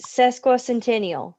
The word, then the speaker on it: sesquicentennial: blair that's question so bobby faust is the one that taught me how to say it it's um it's sesquicentennial centennial centennial centennial okay right in the